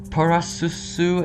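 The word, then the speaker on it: プラスル: While commonly theorized to represent the Pokemon characters Plussy and Minun, I cannot see those names, as their Japanese names are pronounced Parasusu and Mainan.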